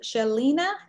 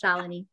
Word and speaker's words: Shalini: Is this Shalina? Did I say it right, Shalina? Yeah, it's close, but it's okay. It's a hard name, it's Shalini.